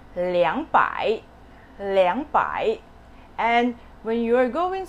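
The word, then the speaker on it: 两百: and ten thousands okay instead of er the number two you're going to replace it as liang liang so when you say 200 it's not anymore urbai it's liangpai and when you are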